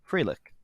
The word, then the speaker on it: Froelich: a former japanese translator and interpreter it's claire fralick did i pronounce that right spot-on spot-on you pronounce it